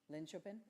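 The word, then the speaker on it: Linköping: Oh dear, I should have asked how to pronounce this. What was that? Lynchopin.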